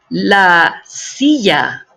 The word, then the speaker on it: silla: La silla. La silla. Just a reminder, the double L is pronounced like the Y in the word Yeti.